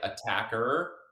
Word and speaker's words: Attaquer: on where you live we we don't have a preference on it we kind of allow people to make up their own mind on what it how it should be pronounced but us being Australians we generally say attacker a kind of Americanized